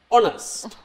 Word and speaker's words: honest: said Shana is because in the word the first letter is H yes yeah but over here age is silent honest no honest honest honest